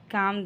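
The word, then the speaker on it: calm: हो जाओ you just काम down काम में एल साइलेंट है नेक्स्ट मैं उससे खुद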